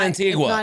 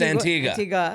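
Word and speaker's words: Antigua: other Island and it's Antiga is that how you say it and it's not Antiga it's Antiga it's Antiga and then someone someone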